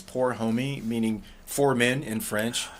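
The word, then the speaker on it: pour homme: there the stuff that's up there now it's poor homie meaning four men in french that's cool yeah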